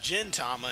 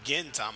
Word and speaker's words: Gintama: guys correct me but the series is pronounced Gintama and not Gintama I thought was Gintama